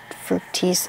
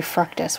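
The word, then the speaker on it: Fructis: this is the Garnier frutis I've never known how to say this I used to say fructus when I was like eight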